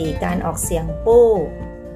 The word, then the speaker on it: 不: พิ อิน บท ที่ 14 การ ออก เสียง ปู้ ปู้ จะ ออก เสียง ได้ 3 เสียง ด้วย